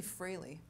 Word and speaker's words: Frehley: one well fun fact Ace Frehley from kids it's actually freely okay Ace Frehley from